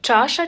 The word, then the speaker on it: чаша: чаша часника треба твердо чаша часник думайте що після ч стоїть тверда голосна а чаша а не